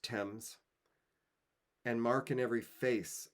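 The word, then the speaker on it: Thames: chartered temps does flow temps is the river that runs through London divides the city and it's pronounced temps and Mark in every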